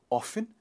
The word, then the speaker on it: often: myth for you both both the pronunciations are correct it is both often and often something that you do